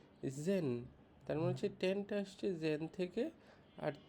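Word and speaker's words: zehn: আইন কে বলে হচ্ছে নয়নট কে বলে হচ্ছে জেন মানে হচ্ছে যে আর ছয় এর মাঝে এই উচ্চারণটা হবে লেভেন কে বলে হচ্ছে এলফ কে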